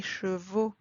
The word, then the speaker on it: chevaux: Again here, we do not pronounce the letter X at the end. It sounds more like O. Des journaux, des chevaux, des animaux.